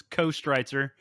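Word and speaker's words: Köstritzer: or you know jason the texan pronunciation is co-streister and that's right yeah yeah but it's got the it's got the umlaut so it's got that earth sound uh and and i'd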